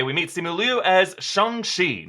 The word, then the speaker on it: Shang-Chi: I'm Erik Voss, and Marvel's Shang-Chi has a new trailer revealing its martial arts hero in a mystery plot involving the Iron Man foes, the 10 Rings.